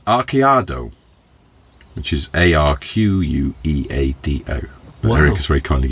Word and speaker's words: arqueado: That trend is called arqueado, which is ARQUEADO. But Eric has very kindly given me a pronunciation code there, arqueado, and consists of lifting the back of the truck.